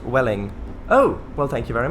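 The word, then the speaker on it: Welwyn: hi back to you wellwyn is actually pronounced welling oh well thank you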